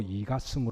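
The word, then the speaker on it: 李嘉誠: 있으시기를 주의 이름으로 축복합니다 홍콩의 리자청 경이라는 사람 있는데요 한문으로 이가성 발음되고 때문에 영어로는 카싱이라고 부르기도 합니다 이 리자청이라고 하는 사람이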